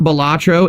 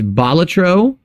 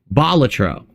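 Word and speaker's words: Balatro: as for it's not so it's not batro it's batro the emphasis lies on the first syllable because batro was a professional Jester in ancient Rome hence the name so it's batro oh that is true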